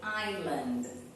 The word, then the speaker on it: island: don't forget this word we do not pronounce the S okay the S is only decorating it only there for show is not a real sound okay Island oh I love to